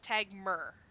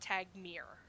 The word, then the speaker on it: Tagmer: Tagmer, not Tagmere. Tagmer. Tagmer. Exactly how it's spelled.